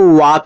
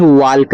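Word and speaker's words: walk: डब्ल्यू ए एल के इसको वाक पढ़ते हैं। वाल्क नहीं। जब ए के बाद एल दिया हो एल के बाद के हो तो यहां पे एल आपका साइलेंट होता है। या फिर एल के बाद एम दिया हो तब भी आपका एल यहां पे साइलेंट रहेगा।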